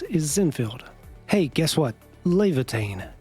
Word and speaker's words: Laevatain: Laevatain. Yes, that's how her name is properly pronounced. It's not Leviathan.